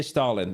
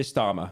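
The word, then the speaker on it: Starmer: It's not K Stalin. That's the bit. K Starmmer. That's right.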